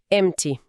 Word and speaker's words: empty: E o T y no final tem um som de i longo, tipo ti. Empty.